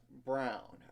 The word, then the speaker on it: Braun: And Elmarco Jackson and Parker Brown, as in Braun. I know it's spelled that way, but still, Jermary McDowell as well.